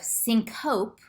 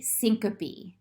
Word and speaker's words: syncope: letters of a word e and e s are pronounced as separate syllables so instead of sink hope which is what you might think you pronounce the e syncope and this isn't nares